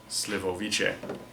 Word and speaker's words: Slivovice: the even more awful however this is pronounced slivoviche so my hypothesis that